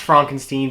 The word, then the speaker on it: Frankenstein: Frederick Frankenstein played by Gene Wilder he wants it to be pronounced Frankenstein because he hates being associated with the Frankenstein's you know referring to